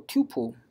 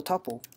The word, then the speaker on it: tuple: composite data structure that's called a couple or tuple depending upon your preference of pronounciation could be pronounced different I've seen those kind of in our area so now let's talk about a couple the couple is just